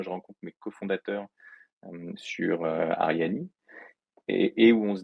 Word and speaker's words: Arianee: toujours intéressant alors justement ariani donc on prononce ariani déjà et pas Arian parce que pour le